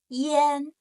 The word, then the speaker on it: ian: It's the hidden sound. It's yen, the sound.